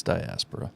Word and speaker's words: diaspora: what it meant and I definitely wouldn't have pronounced it diaspora I would have pronounced it diaspora because I'm from New Jersey well I think that's how you're actually supposed to pronounce it I'm just ah no it's diaspora okay so we're both